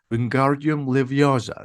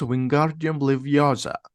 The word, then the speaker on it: Wingardium Leviosa: Wingardium Leviosa, says Ron. The feather doesn't move. You're saying it wrong, says Hermione. It's Wingardium Leviosa.